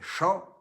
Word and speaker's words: Jean: il va en auvergne de jean la prononciation du pays fait champ on l'appelle champ mathieu